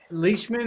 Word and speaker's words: Leishman: Leishman is how you say your last name? Yeah. Wow, Leishman. I think I've just been reading it for so long. I've never actually said it out loud, and I didn't know how you pronounced it. It's a lot of people go Leishman with it, but it's Scottish.